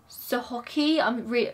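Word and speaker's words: Sochocky: was founded by a man called Sabin von Sohoki. I cannot pronounce this word. I'm just gonna get it up on here so you guys can hear how it should be pronounced. Sohovsky.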